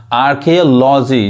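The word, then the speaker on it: archaeology: अब यहाँ पे देखिए, यहाँ भी ए साइलेंट है, एक साथ आ रहा है। तो आर्कियोलॉजी, जिसको हिंदी में क्या होता है, पुरातत्व।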